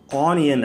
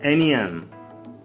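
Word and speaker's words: onion: வெங்காயம் ஆனியன் அப்படின்வாங்க, எனியன். இது மொஜிட்டோன்னுவாங்க, மோஹிட்டோ.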